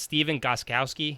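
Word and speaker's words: Stephen Gostkowski: The kicker for New England, Steven Gostkowski.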